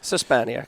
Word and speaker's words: Szczepaniak: And Szczepaniak, am I saying it right? That's pretty good. That's better than most of my relatives. How can I say it? Szczepaniak, yeah. I did say it right.